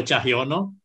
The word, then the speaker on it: Tjahjono: Tjahjono. So the J is silent. Tjahjono.